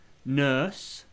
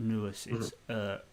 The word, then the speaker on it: nurse: It's not nuus. It's almost like it should be spelt with an er instead of a u.